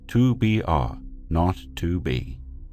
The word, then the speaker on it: 2BR02B: call the zero in the telephone number he pronounced not the number was 2BR R not 2B it was the telephone number of an institution